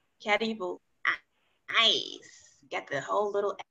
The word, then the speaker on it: Karibu: Karibu. Karibu.